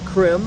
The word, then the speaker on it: Crim: Crim, as in crimson, which is not spelled with a K.